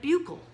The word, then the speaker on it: buccal: There's 2 pronunciations, so let's just learn both. There's buccal and buccal. Yeah, now the dental world, they like to call it buccal. okay? But you'll run across some people in the medicine world and in anatomy, they'll call it bugle.